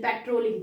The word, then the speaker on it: patrolling: है, ये पेट्रोलिंग, तो इट इज the correct pronunciation पेट्रोलिंग.